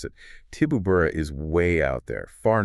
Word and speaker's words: Tibooburra: And you might hear it pronounced slightly differently by locals. Sometimes Kibooburra, sometimes Tibooburra. Sort of a softer P sound.